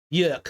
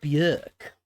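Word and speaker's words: Björk: Bjork a little bit York sorry saying her name wrong bjerk this is an original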